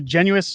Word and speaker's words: Genuis: Brock Michael Barrett uh Garnet is a genuis is that how you pronounce this I think so yes I always say I always say genen because I'm used to being in French Canadian and I I mess it up horribly so hopefully we can